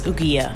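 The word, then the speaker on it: ouguiya: in where i never actually learned how to pronounce the currency for the record it was ugia but that no longer mattered we were about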